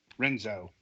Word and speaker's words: Renzo: Be sure to tune in after the break, as we will be reviewing Renzo Racer. I think that's how that's pronounced. It's Renzo. Yeah, Renzo Racer.